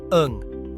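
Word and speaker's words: 이응: It represents an open throat. When used at the beginning of a syllable, it's silent, allowing the vowel to come through unblocked. But at the end of a syllable, it's pronounced as n, like in sing. Its name is ung, and it's essential for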